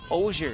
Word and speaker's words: Ozier: Ozier is how you say it.